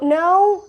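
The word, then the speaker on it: gnaw: Now it's not N-O, no, that is no, but this is no. It's G-N-A-W, that J sound is silent, so it's no.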